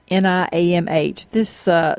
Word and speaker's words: Niamh: I think it's Niamh. It's Niamh.